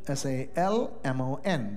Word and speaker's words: Salmon: do you spell salmon s-a-l-m-o-n the L is silent but in Jewish genealogy genealogical names there's a male name s-a-l-m-o-n but the L is not silent it's salmon so I'm